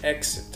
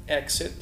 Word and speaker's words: exit: exit وممكن انطقها نطق تاني، ممكن اقول exit عشان لو سمعناها نبقى عارفين النطق ده والنطق ده. exit او exit.